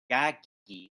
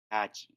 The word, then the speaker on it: Takagi: So yeah, Shingo Takagi. That's how you pronounce it. Takagi. I always say it's Takagi, but it's Takagi.